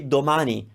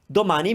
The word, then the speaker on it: domani: we have na ne so if we take the syllable and then the symbol ma and now the syllable ni we can say domani domani means tomorrow domani so